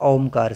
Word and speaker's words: ओम: ओ ये तरीका होता है जैसे पहले मुख को थोड़ा सा खोला और आ का उच्चारण किया। छोटा आ है। आ उच्चारण किया थोड़ी देर तक वो गूंजेगा। फिर थोड़ा मुंह बंद किया तो अपने आप उ बन जाएगा। और फिर बिल्कुल ओठ जब हम जोड़ देते हैं तब कंठ से म का ध्वनि आती है।